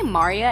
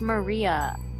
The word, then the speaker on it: Maria: involved in my life mari and i are getting married and I'm of oh you're coming no stupid excuses so that's a thing did you say Marya it's Maria Maria Maria Maria hey whatever it's